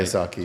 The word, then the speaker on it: Kiyosaki: Kiyosaki, yeah.